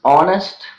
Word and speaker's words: honest: beginning of the words honest honor honesty our and ear the letter H is silent sometimes when h occurs